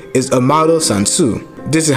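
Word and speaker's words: Amado Sanzu: last name so a model's full name is amaro sansu this is how you pronounce it for americans and for the japanese you would say sansu amaro and is derived from the mythological river the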